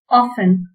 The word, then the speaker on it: often: often, இதுல டி வந்து silent letter.